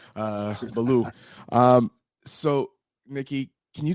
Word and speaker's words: Billou: But my last name pronounce it Belaloo. It's simply. Oh, sorry. I'm I'm pronouncing like it's a French last name. Uh Belaloo.